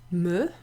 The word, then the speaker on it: me: Me is pronounced with an e sound, like le or je.